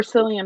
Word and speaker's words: Cillian: But I also have unhealthy obsessions with things, so Like whoever Cillian Murphy is, I don't know who that is. But I'm happy for you. The C is pronounced like a K.